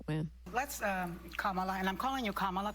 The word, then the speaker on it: Kamala: Let's, Kamala, and I'm calling you Kamala because for all of those who are mispronouncing it, I want you all to know how to say it.